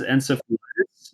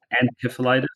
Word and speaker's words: encephalitis: It's known as encephalitis, and also some people say encephalitis, depending on what you believe is right.